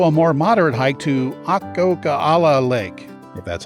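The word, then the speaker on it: Akokala: area there's also a more moderate hike to ah coca a la Lake that's how you pronounce it it's only eleven point six very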